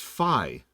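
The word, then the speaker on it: Fi: It's pronounced Phi.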